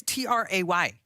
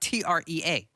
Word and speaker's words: Trey: Okay, Trey is Tray. Okay. Trey is not Trea.